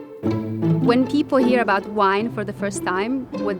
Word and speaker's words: WinE: And that's why we make sure that we pronounce it as WinE, which stands for Women in Economics. It's a network that was